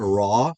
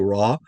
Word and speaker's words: ra: So, we want to make sure we're not pronouncing it as a r. It's not raw. Not raw like r a w. Raw. No, but rather raw. You hear the difference?